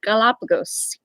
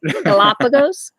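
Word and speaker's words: Galápagos: Will we ever go to the Galapagos?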